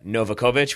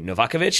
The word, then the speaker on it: Novakovich: Same thing for Andrea Novakovich, which is actually Novakovich.